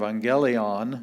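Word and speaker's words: εὐαγγέλιον: same thing we have two gammas the first one sounds like an n and the second one is the g sound so uh you angelion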